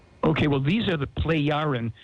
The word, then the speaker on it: Plejaren: Okay, well, these are the Plejaren, spelled P-L-E-J. The J is pronounced like a Y. Okay. Plejaren, Plejaren people.